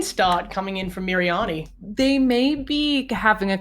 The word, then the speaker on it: Miriani: How do you pronounce Miriani. that? Just say Miriani.